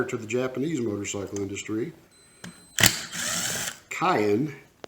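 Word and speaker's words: Keihin: the japanese motorcycle industry cayenne i believe is the correct way to pronounce it and cayenne maybe i'm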